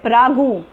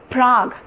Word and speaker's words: Prague: a plural and even I've heard people say prabhu no it's not cease check Czechoslovakia the the capital of Chiklis Czechoslovakia is known as Prague Prague get me get it so since these